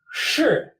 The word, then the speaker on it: 是: Its pronunciation is shi. Shi. So that same initial as shang above, sh, with like the ending of r, sun. Shi.